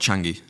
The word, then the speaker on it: Changi: That was the worst part about the airport Changi. I think that's how you pronounce it.